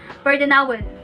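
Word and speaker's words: perdunawen: So, the second word that I want to share to you guys is the word perdonawon.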